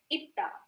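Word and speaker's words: 있다: जैसे कि first one is known as itta and the second one is known as pronounced as isoyo.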